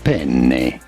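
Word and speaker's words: penne: You do want to insist on the double N. Make it twice as long. Penna from Italy.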